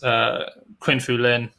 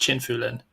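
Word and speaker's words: Qin Fulin: But of course, once we remove China's Qin Fu Lin, which I believe is actually pronounced Chin Fu Lin, once we remove him, then suddenly Kim Tuan Thatch moves up into fourth.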